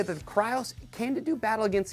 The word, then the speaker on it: Krios: It is Krios. No matter how bad you want to say Kreos, the guys at Klim are pronouncing it Krios.